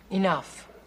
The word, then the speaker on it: enough: farm is big e enough what see the GH at the end of that word that's pronounced like an F they want it to